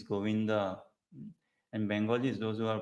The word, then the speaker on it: Govinda: Uh, it is not Govind, it is Govinda. And Bengalis, those who are proper Bengalis, say they call it out like this Ramo, Govindo.